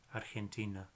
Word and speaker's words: Argentina: The GE sound is like G, Argentina.